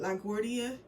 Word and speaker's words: LaGuardia: She's like rolling right now because I can't pronounce the name of this airport. LaGuardia.